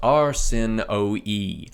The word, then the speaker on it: Arsinoe: To hopefully save myself some audio pain in the future, this name is pronounced Arsinoe, not Arsinoe, end of note 10, or Berenike, but no other Greek names.